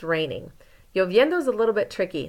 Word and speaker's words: lloviendo: And then here, está lloviendo. It's raining. Lloviendo is a little bit tricky. Those double L's, remember, make a y sound.